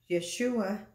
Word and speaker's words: Yeshua: translated salvation is Yeshua Yeshua is the Hebrew pronunciation of Isaiah was saying the